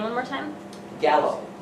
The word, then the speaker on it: Gallo: name one more time gallo Robert Gallo just like the wine all right so this